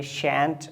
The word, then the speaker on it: shan't: ये दो वर्ड्स आपने सुने होंगे, शैंट और some people pronounce it शांट and then एंट।